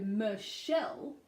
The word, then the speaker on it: Michelle: a little hint there so Michelle the unstressed syllable ma becomes Wow so that's short now what so myth and then even though it is CH in the spelling it is SH in the pronunciation or sure okay so Michelle and the